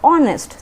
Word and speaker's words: honest: तो उसका रीज़न ये है कि हम जो ऑनेस्ट बोल रहे हैं HONEST, we pronounce it एज ऑनेस्ट, तो और जो साउंड आ रहा है उस वजह से हम वहाँ पे एन यूज़ कर रहे हैं।